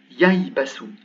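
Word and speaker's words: يَيْبَسُ: Ensuite, un ba et un sin. Ça se prononce yaibasu.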